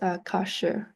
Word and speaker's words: Kashgar: And in today in China, it's still pronounced Kashgar.